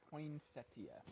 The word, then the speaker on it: poinsettia: It is poinsettia. Okay, here's my hat. So we mispronounced it our whole life growing up.